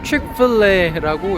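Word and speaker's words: Chick-fil-A: 지금 배가 이렇게 부르지 않으면은 칙플레 먹고 갈 텐데 찍플레라고 읽으면 됩니다.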